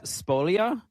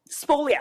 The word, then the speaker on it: spolia: said it out loud but is Splolia. Spolia. Yes.